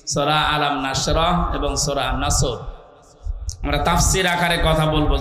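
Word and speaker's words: نصر: নাসর মানে ইগল পাখি এজন্য তেলাওয়াত যখন করবেন উচ্চারণটা মুখ গোল করা লাগে আল্লাহ পাক জানিয়েছেন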